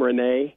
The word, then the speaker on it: Reyne: Did I pronounce, is your first name Reyne? Yes, it is. Okay, it's just spelled a little different.